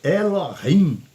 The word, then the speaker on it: Elohim: O Elohim, que é a palavra mais certa da pronúncia, Elohim, esse H é aspirado.